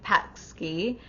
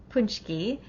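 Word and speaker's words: pączki: It looks like pat Ski the spelling, but it's really punch key is how it's pronounced.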